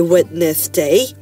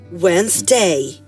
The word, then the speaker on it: Wednesday: Sunday Monday Monday Tuesday Tuesday Wednesday never say witness day say like saf one Wednesday Wednesday yeah okay let's do it one more